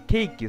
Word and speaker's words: 警騎: ケイビさんって言えばいいのに、ケーキさんっていう、こ